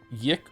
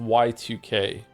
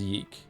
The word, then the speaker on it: YIIK: Is it pronounced yik or yike? It's actually pronounced Y2K, but everyone just says yeek.